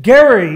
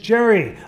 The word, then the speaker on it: Gerry: are here tonight know can pronounce Elbridge Gerry rather than Elbridge Gerry.